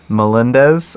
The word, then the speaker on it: Melendez: No, Bill Melendez, I think is how you say his name.